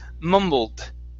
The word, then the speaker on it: mumbled: endings this word here instead of mumbled the e is silent okay and we only want to pronounce the d the word is mumbled mumbled okay okay same